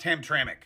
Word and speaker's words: Hamtramck: way I know it's spelled ham but it's pronounced Hamtramck I Googled it mayor gal is a Muslim